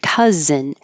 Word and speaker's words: cousin: And then the word cousin also sounds like cuz, but it's spelled with an OU. So that makes it even more confusing.